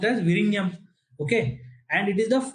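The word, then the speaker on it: Vizhinjam: So this is pronounced as Virinam.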